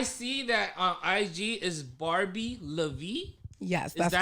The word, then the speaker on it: Barbie LaVie: bat barbie i see that on ig is barbie lavie yes is that right correct did i pronounce that right absolutely let's start